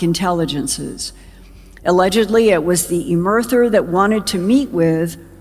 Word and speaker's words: Emerther: that lists 5 alleged alien races that include EMERTHER, apparently pronounced Emerther.